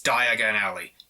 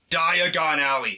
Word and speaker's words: Diagon Alley: It's Diagon Alley. Diagon Alley. Say it right or you end up in Nocturne Alley.